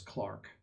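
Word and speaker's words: clerk: They also pronounce C L E R K as Clark.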